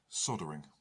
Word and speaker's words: soldering: Soldering, or as the Americans say, soldering with a silent L.